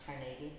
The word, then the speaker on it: Carnegie: says to him which is supposed to be pronounced Carnegie anyway so mr.